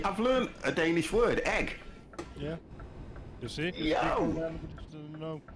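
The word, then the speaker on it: æg: Egg is Danish. Oh, it's pronounced exactly the same and spelled A-E. Oh, okay. You see, I've learned a Danish word. Egg.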